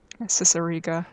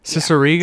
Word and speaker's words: Cicerega: have an amazing When I say words like how is it actually pronounced? Say it for me. Cicerega. Cicerega.